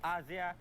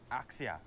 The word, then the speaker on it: Axia: over the years first things first it's asia and not axia it's asia asia we've been saying axia that's what it's spelled if it's english pronouncing it it's axia yeah but apparently it's not english i should lay that